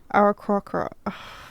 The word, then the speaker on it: Aarakocra: Aarakocra.